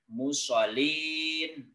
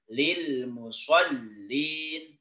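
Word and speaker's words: لِلْمُصَلِّينَ: Musa dlamnya berkas Dit bukan mushollin bukan seperti itu tapi yang benar Lil mushollin musoli Oh iya ulangi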